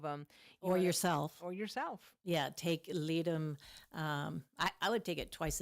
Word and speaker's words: Ledum: Well, just look up Leadum, Ledum.